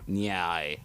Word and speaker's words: Nair: Just say it's Nair, dude. Yeah. Yeah. There. I don't. Nair. Nair. Herpes. Nair. Okay. Nyai. I don't know how to pronounce it, honestly. Nair is like no more hair.